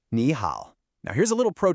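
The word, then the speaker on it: 你好: But when you put two third tones together, the first one actually changes to a second tone, just to make it flow better. So we say it like ni hao, a rising tone followed by a dipping tone.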